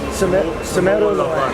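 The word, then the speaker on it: Cemoro Lawang: Semeru Lawang.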